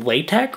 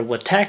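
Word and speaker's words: LaTeX: this resume is that it is written in way tech or with tech however you want to pronounce it la te X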